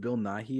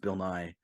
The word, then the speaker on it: Bill Nighy: when she Living, said his name is apparently pronounced Bill Nighy or whatever, when she said Bill Nye, I was so confused dude. because I had never heard of the movie this guy's from, and also it's not pronounced Bill Nye, and also Bill Nye got an Oscar?